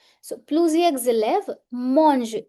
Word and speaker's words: mangent: So, plusieurs z'élèves, mangent. E N T in pronunciation remains silent.